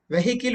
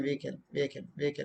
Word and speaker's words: vehicle: and 88 letter 88 vehicle we say it's not vehicle v ear diphthong curl vehicle they came in a vehicle not vehicle just because you have h is silent okay when you take